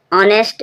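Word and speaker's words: honest: ऑनेस्ट means ईमानदार। ऑनेस्ट means ईमानदार। H silent है।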